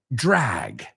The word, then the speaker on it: drag: Drag rhymes with bag, rhymes with lag. A lag es un desfase. Piensa, the jet lag. Okay, it rhymes with lag, bag. Drag is the word, and sag. Sag is caer o decaerse. Hey, we're learning other words too. The sound is ag.